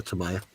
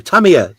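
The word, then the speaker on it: Tamiya: would have been a Tamaya or Tamia sorry Tamia say it properly you dink come on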